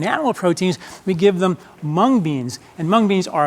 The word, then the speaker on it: mung: Mung beans has these anti-flatulence factors. Are you kidding? Yes, I'm not kidding. I can't believe it. I've missed mung beans my whole life. Rhymes with dung.